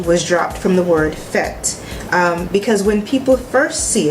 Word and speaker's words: FET: people first see it, they thought the word was fetty or feet, so it was hard. So I made it phonetic, so when people pronounce it, they was like fet.